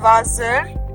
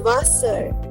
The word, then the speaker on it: Wasser: Everywhere we were considering S and Z, right? But this is not Wasser. It is Wasser.